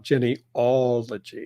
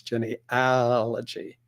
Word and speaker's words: genealogy: how to spell genealogy it's spelled with an a it is not Jenny ology it's Jenny allergy so that's something I